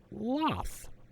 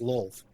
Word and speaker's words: Lolth: Venger kind of gloats a bit as he introduces Loth. Demon Queen of Spiders. Yes, and Actually pronounced Lolth.